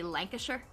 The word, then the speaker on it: Lancashire: I know there's a place that's spelled Lancastershire, and you say Lancashire. Yeah. And like, what happened to all the letters in the middle? They just move really, really quickly.